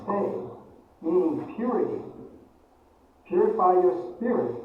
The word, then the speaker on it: 清: The third character is pronounced as sei, meaning purity.